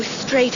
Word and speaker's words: straight: İngilizce'de T'den önce gelen G, H harfleri okunmaz.